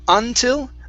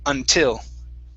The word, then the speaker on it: until: is the word until the stress is at the end of the word instead of until until untitled great great uh